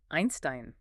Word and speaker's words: Einstein: The combination E-I. The second letter is I. How do you say the letter I in English? I. So EI sounds like I. Einstein.